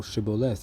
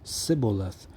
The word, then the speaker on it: Shibboleth: Speaking of fugitive Ephraimites, we read, quote, then said they unto him, say now Shibboleth. And he said, Sibboleth, for he could not frame to pronounce it right.